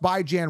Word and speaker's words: Bijan: So first and foremost, Bijan Robinson. By the way, that is how you pronounce his name. Bi as in bi-weekly, B-I. Jan as in Rand, J-A-N, Bijan. Anyone pronouncing it Bijan is wrong, okay?